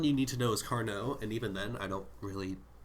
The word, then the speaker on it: Carnot: We don't pronounce the T at the end of words in French for some reason.